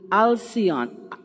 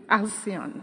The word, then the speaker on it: Alan: The Counselor General Ali alion alion Wilson please let's pronounce it properly you are the council the council General from Jamaica to New York and your name Alan Alan Wilson wonderful welcome thank you